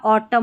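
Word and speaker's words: autumn: फिर है N silent था ऑटम में, तो यहाँ पर एम एन साथ में रहते हैं ना, तो एन जो है वो साइलेंट रहता है ऑटम.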